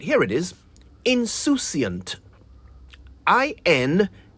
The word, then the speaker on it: insouciant: This is one of the words the English inherited from the French, who spell it the same way but pronounce it insouciant.